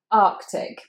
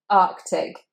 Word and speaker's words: Arctic: But actually you need to say both of those C's, so you've got two K sounds. Arctic, Arctic.